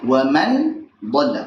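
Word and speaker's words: وَمَنْ ضَلَّ: Kalau izhar bacanya bagaimana? Wa man dhalla. Pertama nunnya jelas. Wa man jelas, dhalla. Yang kedua, selain nunnya jelas juga tidak dipanjangkan gunnahnya.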